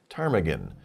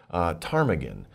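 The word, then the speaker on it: ptarmigan: what is this animal tarmagen how do you pronounce that why did they do that well actually when you pronounce this word the p is silent so it's tarmagen tarmagen it's a bird it's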